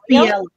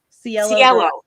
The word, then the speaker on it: Cielo: It's Celio. How do you say it? I don't want to butcher it. Mayor, or not Mayor. I mean, Mercedes. Is it Celio? Cielo. That's it.